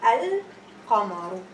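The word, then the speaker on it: القمر: start pronouncing the word, it's going to be al-qamaru. Al-qamaru, lam is pronounced.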